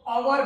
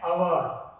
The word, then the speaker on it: hour: इसको अवर नहीं पढ़ा जाता है, इसको अवर पढ़ा जाता है। क्या पढ़ा जाता है? अवर। तो ये एच है, क्या है? साइलेंट।